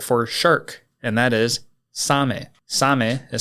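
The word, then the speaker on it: サメ: the Japanese word for shark and that is Sam Sam is spelled s a m e and s is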